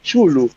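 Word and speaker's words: Cthulhu: libremente, en o que Óscar Jaenada fixo canónica a pronunciación de Chulu, porque, oh Dios mío, estos son sectarios del dios Chulu.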